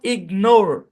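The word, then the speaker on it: ignore: হবে সরি এই বরাবর তাহলে হচ্ছে প্রথম অংশের উচ্চারণ ইগ পরের অংশের উচ্চারণ নোর তাহলে সম্পূর্ণ শব্দের উচ্চারণ ইগনোর ইগনোর ইগনোর মানে কি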